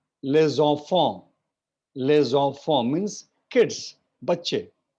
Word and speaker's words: les enfants: But because it is les and then enfant, so s and e will combine, and it will become les enfants.